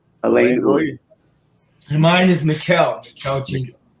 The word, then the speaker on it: Alain Uy: My name is pronounced Alain Uy. Alain Uy.